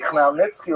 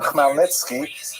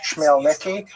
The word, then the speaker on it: Khmelnytsky: The first of them is the Khmelnytsky Rebellion of 1648, when this man, Bogdan Khmelnytsky, sometimes horribly mispronounced Chmielnicki, because that's the Polish spelling with an American pronunciation, but the pronunciation is Khmelnytsky, led an uprising of